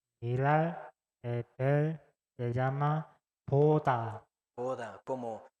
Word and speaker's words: 보다: mirar, ver, se llama 보다, Boda, como se pronuncia como boda de algún casamiento.